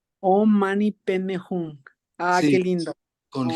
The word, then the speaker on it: Hum: Mani, Peme, Peme, Peme, Hung. Om Mani Peme Hum. Qué Sí, lindo. con Om G al Mani Peme final, Hum. porque esta pronunciación tibetana es con ese G al final.